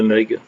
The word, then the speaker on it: mug: présenter ma collection de mugs. Mugs ou tasses, enfin on a plus tendance à le prononcer comme américain, mug, et puis en même